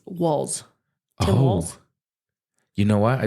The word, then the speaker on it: Walz: I think it's okay I think it's walls like like like the walls you're looking at cuz it's walls walls you know what